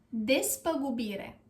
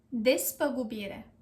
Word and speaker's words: despăgubire: Is des, p, gu, bi, re. Despăgubire. Despăgubire. Despăgubire.